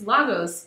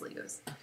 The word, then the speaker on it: Lagos: actually lagos i'm sorry i always printed mispronounced that word i'm like it's lagos but no it's legos um and uh he is